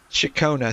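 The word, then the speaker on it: Ciaccona: Jeez. Shakona. So, that's how she pronounced her name.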